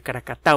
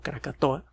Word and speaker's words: Krakatoa: que experimento anak krakatau el hijo de cara kata o mal pronunciado krakatoa en el 2018 en algunas